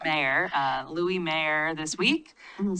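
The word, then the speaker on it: Mair: It's M-A-I-R, but pronounced Mayor, Louis Mayer this week.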